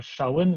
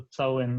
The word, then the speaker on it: цæуын: Например, шален вместо цален, да, пишется ц, на севере читается с, на юге ше.